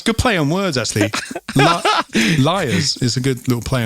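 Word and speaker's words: Lyre's: i always when i've seen it i've always pronounced it as lyra's right actually it makes a lot more sense yes i've watched a couple of videos today and it's pronounced liars so ah well that that makes a lot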